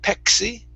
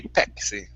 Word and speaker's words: Pepsi: Instead of pepsi, give me a p sound. Pep. Pepsi. Pepsi. There you go. Good. Good. Some people say it, some people don't. They they pronounce the K. It's kind of like pizza. Um, here in Central and South America, some people say uh pix. The same thing with Pepsi. They say Pexi.